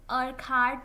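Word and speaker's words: Urquhart: इसके प्रोनाउंसिएशन में बहुत कंफ्यूजन रहता है लोगों को। मैं इनको डॉक्टर अकेट बोल रही हूं। बहुत लोग इन्हें अर्क हार्ट बोलते हैं।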